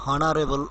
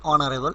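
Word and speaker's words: honorable: তো এখানে দেখো অনারেবল, এখানে আমরা এইচ হনারেবল উচ্চারণ করছি না, আমরা অনারেবল, এইচ সাইলেন্ট, তো আমরা এইচ কনসোনেন্ট হওয়া সত্ত্বেও এখানে এন বসলো।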